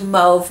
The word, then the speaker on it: mauve: LA Colors in mauve glaze I know it's pronounced mave but I feel like a pretentious snob when I say that so mauve glaze oh wait a minute no this one right